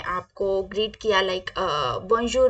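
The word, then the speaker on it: bonjour: पहले वाली स्लाइड में आपको ग्रीट किया लाइक बंजू मि जामी तो इसी तरीके से हेलो माय फ्रेंड्स को हम फ्रेंच में बोलते हैं बजर मे जामी बजर मेजम कैसे बोलेंगे हम बजर मे जामी बजर मेजम ओके अगला हमारा वर्ड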